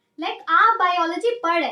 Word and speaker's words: biology: Okay guys, एक चीज और मैं आपको बता दूं कि इसे बायोलॉजी नहीं बोलते, इसे बोलते हैं बायोलॉजी. बहुत से लोग गलत प्रोनाउंस करते हैं और वो बोलते हैं बायोलॉजी, बट इट इज बायोलॉजी.